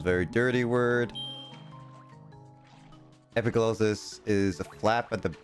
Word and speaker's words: epiglottis: Just behind your epic lotus. What does a epic lotus is? Hey, dude. Yep. I believe it's pronounced epiglottis.